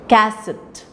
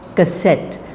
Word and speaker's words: cassette: the first so we don't say casset that's wrong wrong pronunciation people do say casset but cassette so the C part of it is a said weekly